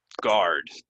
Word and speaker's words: guard: um there we go guard r r r guard guard it's like this U is kind of silent silent guard engine engine it